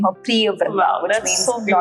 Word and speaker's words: Priyavrindha: So it's pronounced as Priya Vrindha.